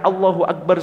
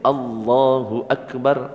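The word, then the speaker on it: الله أكبر: Sudah a-nya panjang sama pendek beda arti. Kalau a-nya pendek Allahu Akbar artinya Allah maha besar. Allahu Akbar artinya apakah Allah maha besar? Loh kok malah justru jadi pertanyaan.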